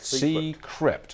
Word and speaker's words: Seecrypt: Have I pronounced it correctly? Correct. Seecrypt, okay? Seecrypt.